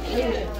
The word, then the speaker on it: Cajun: It's Cajun.